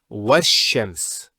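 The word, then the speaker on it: والشمس: Similarly, this lam is not pronounced either because, as we said, this is from the sun letters and there's a shaddah there. So it's wash-shams.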